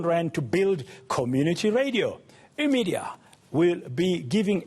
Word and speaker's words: Immedia: It's Immedia, which is a combination of immediate media.